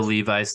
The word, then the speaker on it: Levis: Will Levi's to Green Bay? Is that the chant I'm hearing? Possibly. I say Levi's, but I'm pretty sure it's pronounced Levis.